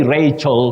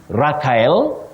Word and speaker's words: Rachel: Now, Josek or Sune of Nairobi, you say Rachel for that name, Rachel, not Raquel, and sometimes just like Michael, not Mikhail. Locally, we find ourselves saying Mikhail, but it's Michael. Then Raquel, but it's Rachel.